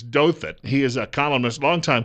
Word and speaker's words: Douthat: Ross, I think it's Douthat.